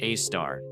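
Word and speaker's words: Sagittarius A*: The most famous example in our own galaxy is Sagittarius A, pronounced a star, a black hole about 4 million solar masses nestled in the crowded center of the Milky Way.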